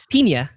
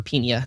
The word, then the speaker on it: Pinia: Pinia.